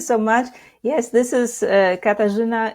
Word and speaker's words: Katarzyna: Yes, this is Katarzyna. It's Polish name, so I know it's really difficult to pronounce, for English-speaking people.